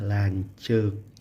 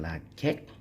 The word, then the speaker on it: lancuk: seperti ini ada eh dibacanya lancuk lanjut ya bukan lakek terlanjur tapi lancuk seperti itu ya itu contoh